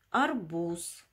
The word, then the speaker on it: арбуз: силос ударение на и арбуз ударение на у арбуз пятое задание в